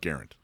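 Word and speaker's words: Garand: oh uh Umar garant it's pronounced garant according to them prair fire carban class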